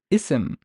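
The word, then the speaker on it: اسم: would I pronounce this this is a standalone word I would pronounce it as isim isim but look here notice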